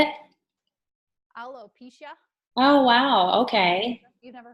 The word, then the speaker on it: alopecia: There's also alopecia.